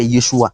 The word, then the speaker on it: Yeshua: En araméen, là, le nom de Jésus là, qui a été transmis en français, c'est ça que Yeshua. Ça s'écrit Y-E-S-U, Y-E-S-H-U-A.